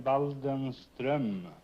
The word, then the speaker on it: Waldenström: In Sweden, you pronounce the name Waldenström.